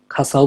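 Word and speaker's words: 傘: এই যে চলে আসছে পরের শব্দ খাসা যেটা বললাম খাসাও বলতে পারেন বা জাপানিজরা উচ্চারণ করে হচ্ছে খাসা তো খাচা হচ্ছে আমব্রেলা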